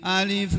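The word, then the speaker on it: ألف: La aqulu, aku tidak mengatakan alif lam mim itu adalah satu huruf.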